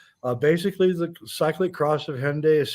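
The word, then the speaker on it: Hendaye: the cycling Cross of Hyundai or undai or whatever I just do it if I pronounce it in the English way because I don't want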